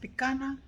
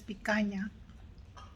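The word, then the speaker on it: picanha: It is part of the cow, and then it's pronounced picana. Even in English and Spanish, it's picaña.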